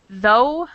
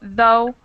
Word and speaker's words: though: and then of course we also have words like though if where it makes no sound at all does everyone see in the chat box where I wrote though or throughout oh I'm